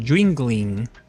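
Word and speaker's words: Yuengling: El autor es se llama Owen Jingling y me da me da risa porque hay una cervecería local que es jingling, pero se pronuncia así, jingling.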